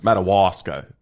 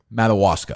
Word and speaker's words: Madawaska: Madawaska. How do you say it? Madawaska. Madawaska. Yeah, it's like a Native American. Like Madagascar. Madawaska. Sure. That's how you say it.